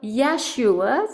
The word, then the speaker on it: Yeshua: read me a passage Mm, of how Yeshua, that's how they say it, Yeshua and Mary, the Lord and the Lady, mhm, how they did conceive a child.